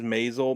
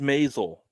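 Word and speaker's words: Maisel: do you say it again The Marvelous m masel masel is m a i s e l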